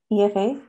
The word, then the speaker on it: Aoife: if uh if i so it's like at efa which is how it's pronounced underscore aoife which is how it's spelled